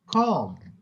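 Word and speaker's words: comb: बी टूम कर दिया सीओ एम बी क्या होगा कम बचपन से पढ़ते आ रहे लड़कियों के पास तो मतलब कम और ब्रश की लाइन लगी हु होती बम नट ब आखिर में बी नहीं आएगा बी बम ह don't make your own प्रसी don't read don't pronounce every later don't make your own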